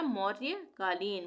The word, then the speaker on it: मौर्यकालीन: तो यह हो गया मौर्य कालीन मौर्यकालीन यहां पे भी र का आधा उच्चारण होगा य का पूरा होगा मौर्यकालीन म और य